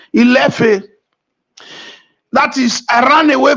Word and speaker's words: Ile-Ife: Ile-Ife is actually Ilefe, which many of you know is also a Benin name. Ilefe.